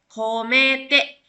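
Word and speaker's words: 込めて: Ini juga sama ketemu sama hiragana. Jadi dibacanya ko komete.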